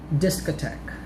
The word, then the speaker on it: discotheque: and hard th sounds here are examples of words with the letters t and h pronounced as t or the t sound thailand discotheque esther time thomas that's